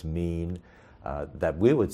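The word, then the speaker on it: מִין: AFTER THEIR KIND, IT'S THE HEBREW WORD WE PRONOUNCE "MÎN," THAT WE WOULD SAY IS MORE AT THE FAMILY LEVEL OF CLASSIFICATION.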